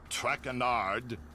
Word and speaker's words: Traquenard: tongue butchered while I eat. As for my name, not Traquenard.